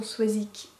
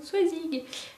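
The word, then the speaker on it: Soazig: Moi, j'ai un prénom breton, Soisic, qui s'écrit avec un G, mais on dit Soisic-que. C'était toujours la grande blague quand les gens lisaient mon prénom, Soisig. Non, je suis désolée, c'est Soisic. Ah, mais il y a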